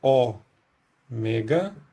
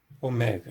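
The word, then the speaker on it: ὦ μέγα: é o mega a e o valor fonético Dessa letra tanto no grego antigo quanto no grego moderno é de ó Mas é diferença é que no grego antigo ele representa um som de o Sempre longo e sempre aberto então isso aqui seria ó e no grego moderno essa distinção entre aberto e fechado e longo e breve não existe então e sempre dessa forma se a gente lembrar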